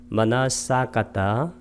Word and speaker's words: 마나사카타: 빨리어로도 마나사카타, 단위 사자를 장음으로 발음하는 것, 그것만 차이가 납니다. 마나사카타.